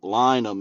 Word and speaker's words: Lynam: I know when you first came on, I said, "Hey, Dave, I've been pronouncing your band Lynam," and you were like, "You got it."